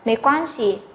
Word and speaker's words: 对不起: có một thanh điệu, nên là nó là thanh nhẹ, mình sẽ đọc nó nhẹ nhàng hơn so với các thanh khác. Vì thế cái này mình không phải đọc là mấy quan si, mà mình phải đọc nhẹ nhàng thôi, mấy quan si, mấy quan si, được chưa ạ?